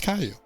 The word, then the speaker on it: Caillou: It is pronounced Caillou.